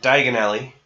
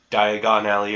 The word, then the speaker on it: Diagon Alley: like for some reason he pronounces it diagonally instead of Diagon Alley or whatever the hell is supposed to be but and nobody tries